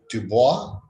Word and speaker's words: Du Bois: And next up is W.E.B. Du Bois, or Dubois, as he pronounced his name.